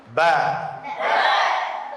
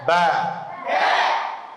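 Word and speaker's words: ب: তাহলে দুই ঠোটের ভিজা অংশ থেকে কি উচ্চারণ হবে বা ভিজা অংশ কি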